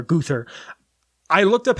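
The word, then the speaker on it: Gruthar: guther g r u t h a r guther I looked up how to pronounce it and it was like goo to her and I was like that's not correct so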